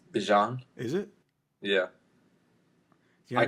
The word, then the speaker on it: Bijan: Well, do you know how to say Bijan Robinson? Bijan? It's Bijan.